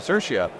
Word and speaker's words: Sirchia: cpon in Paris and I'm here with cersa from Susa and I'm saying that correctly right